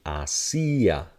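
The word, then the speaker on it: hacía: Now if we put a stress on it, this is going to now have its natural sound. So it'll be hacia.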